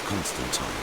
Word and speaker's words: Constantine: At first, I doubted my sanity, but after some time I told the leader of the mages, Constantine, about them. It's the correct way to say it.